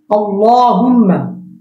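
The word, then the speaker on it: اللهم: এটার সঠিক উচ্চারণ আছে আল্লাহুম্মা আল্লাহ এই লামটা মোটা হবে মিমটা গুন্না হবে বিসমিকাতু আলিফ লম্বা হবে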